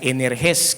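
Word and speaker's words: ἐνεργής: Eficaz, la eficacia viene de un vocablo griego que significa, o se pronuncia energes, que significa activo, poderoso en acción, llena de poder para conseguir resultados.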